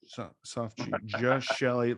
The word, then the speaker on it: Geshelli: Just soft G. Soft G. Geshelli Labs.